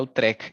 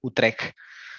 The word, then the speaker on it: Utrecht: llama Utrecht, se pronuncia Utrecht, esa CHT se pronuncia como una G de gato, Utrecht.